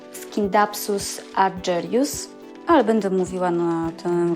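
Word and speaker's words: Scindapsus argyraeus: Po angielsku nazwę wymawia się Scindapsus argyreus, ale będę mówiła na tę roślinę Scindapsus.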